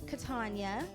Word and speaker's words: Katanya: then yeah oh yeah catania yeah that's why we go cat yeah so my full name is katanya and um i started